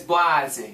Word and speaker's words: Boise: as well okay so how do you say I just want to make sure you know how to say I did the research last night you did it is boise yes okay it's blasi oh no because I